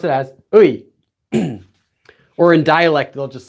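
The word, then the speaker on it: 의: So whenever this is being used as the possessive marker, as in like apostrophe S, like it is his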